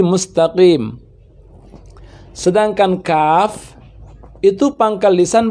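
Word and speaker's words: مستقيم: Untuk huruf qaf berada pada pangkal lisan yang paling bawah, paling dalam. Qaqiqu, sehingga tidak terdengar bunyi pecah. Bukan mustaqim, tapi mustaqim.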